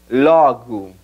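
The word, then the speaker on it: logo: backtracking primero entonces luego en portugués se dice logu Abre la primera o y reduce la segunda ya sabemos que es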